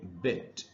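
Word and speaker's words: bit: इसीलिए इस वर्ड को हम पढ़ेंगे बिट, और ये उसके सामने उसका प्रोनाउंसिएशन लिखा है। तो ट्रांसक्रिप्शन हमको बताता है कि यहां पर इसको बिट पढ़ना है, बाइट नहीं।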